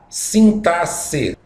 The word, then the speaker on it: sintaxe: E a última categoria de estudo da gramática é a sintaxe. Pronúncia, pessoal, é exatamente assim mesmo, como se tivesse dois S's. A pronúncia aqui é som de dois S's.